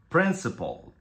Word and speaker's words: principle: tengo que decir es que ambas son homófonas Qué quiere decir esto que aunque se escriban diferente la pronunciación es igual Entonces vamos a decir principal principal princip principle Okay vamos con esta primera